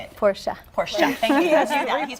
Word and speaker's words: Porsche: I basically travel the country and I talk about the Porsche brand.